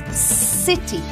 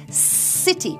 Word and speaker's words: city: Eso es city. Para decirlo, no sacamos la punta de la lengua entre los dientes, no. Se pronuncia como en S del castellano. City.